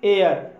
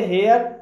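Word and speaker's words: heir: इसके अलावा भी दोस्तों, अन्य शब्दों में भी एच साइलेंट रहता है, जैसे कि एयर, इसे एयर बोला जाएगा, इसे हेयर नहीं बोला जाएगा और एयर मीन्स होता है उत्तराधिकारी।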